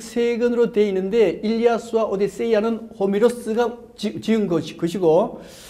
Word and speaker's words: 일리아스: 때때로 일리아드라 그러는데 일리아드는 영어식 발음이 일리아드고 실제는 일리아스라고 불려지는 겁니다.